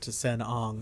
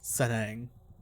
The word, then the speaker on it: T'sen-Ang: that I am certain I've been calling it to sen Ang I forgot she actually does pronounce it out L out loud so sang sang yes I'm the Doctor Who who are